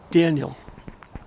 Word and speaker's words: Daniil: I've been calling Ortiz I've been calling Daniil because his spells de nie l but I passed his mother the way up and she said they pronounce it Daniel just like it was da en he had Burke hits